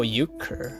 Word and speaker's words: euchre: the first time how to pronounce how to pronounce uh cray oh you you cur oh you cur okay eucard that's what does euchre mean duker